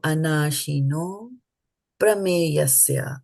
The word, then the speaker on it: anāśino prameyasya: 2 words combine, then according to the rules of the Sanskrit language, this a gets dropped, right? This a gets dropped, and then this aha becomes o. So anāśino prameyasya, that's how we pronounce this.